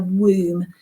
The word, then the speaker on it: womb: carry it in the womb it's a funny word that it's got a silent b on the end doesn't it but yeah room okay so here you